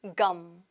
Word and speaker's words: gum: 근데 발음은 어떻게 알아요 껌이 아니라 그대로 검 검 자 검 같은 경우에는